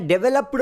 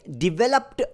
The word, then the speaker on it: developed: ಓ ಪಿ ಇ ಡಿ ಈ ಪದವನ್ನು ತುಂಬಾ ಜನ ಡೆವಲಪ್ಡ್ ಅಂತ ಉಚ್ಚಾರಣೆ ಮಾಡ್ತಾರೆ ಪಿ ಇಡಿ ಗೆ ಪಿಳ್ ಶಬ್ದ ಉಚ್ಚಾರಣೆ ಮಾಡ್ತಾರೆ ಅಗೈನ್ ಇದು ತಪ್ಪು ಉಚ್ಚಾರಣೆ ಆಗುತ್ತೆ ಈ ಪದದ ಸರಿಯಾದ ಉಚ್ಚಾರಣೆ ಡೆವಲಪ್ಡ್ ಅಂತ ಬರುತ್ತೆ ಇದರಲ್ಲಿ ನಾವು ಡಿವಲಪ್ ಪದವನ್ನು